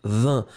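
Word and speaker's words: vingt: Oui, effectivement, vin, V-I-N-G-T, le G est muet. Encore une fois, tous les mots de cette famille-là vont être exactement comme vin.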